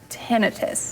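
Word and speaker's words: tinnitus: were watching some videos seems actually pronounced tenus tenus tenus very interesting so but most of us you're right know it is ttis which is basically just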